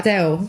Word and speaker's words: Adele: You came and asked me how I say my name and I was like Adele. I was like Adele.